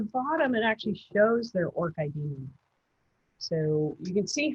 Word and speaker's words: ORCID: actually take me to ORCID, right? Yeah. I call it ORCID like the flower, but then I misspell it because it does not have an H in it.